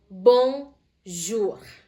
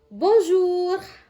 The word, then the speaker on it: bonjour: Bon jur. Bonjour. Oke bisa ya. Bong. Bong. Bulat bulat seperti ini. Jadi benar-benar bunyinya o. Bonjur. Bonjur.